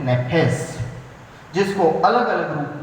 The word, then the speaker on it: nephesh: इब्रानी भाषा में प्राण शब्द का लिए जो शब्द प्रयोग किया जाता है वो है नेफेस, NEPHESH, उसको हम प्रोनाउंस करते हैं नेफेस, जिसको अलग अलग रूप में प्रयोग किया गया है।